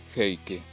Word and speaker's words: Heike: Su nombre se pronuncia Heike.